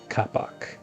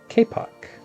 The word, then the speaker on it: kapok: I did look this up and it is not pronounced kapok. It is properly pronounced kpock.